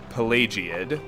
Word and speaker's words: Pelagiad: to balmora it's uh pelagiad which i i now believe to be the correct pronunciation based on learning how to pronounce pelagius from playing skyrim all right rat come